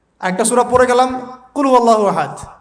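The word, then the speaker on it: قل هو الله أحد: আরেকটা সূরা পড়ে গেলাম কুলহু আল্লাহু আহাদ কি কুলহু আল্লাহু আহাদ মানে কি এটা উচ্চারণই বা কেমন করে করতে হয় কুল বলুন হু আল্লাহু আহাদ তিনি আল্লাহ এক এই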